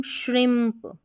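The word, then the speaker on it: shrimp: इसको पढ़ेंगे हम श्रिम्प, IMP को हम यहाँ पर श्रिम्प, ये जो आई है यहाँ पर ये छोटी की मात्रा के रूप में पढ़ा गया है। M को आधे म के रूप में और P का उच्चारण प, तो बन गया हमारा ये श्रिम्प।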